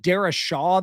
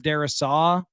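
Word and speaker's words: Darrisaw: Is it Dar Shaw that they're saying instead of Darasaw? Because there's really no H there.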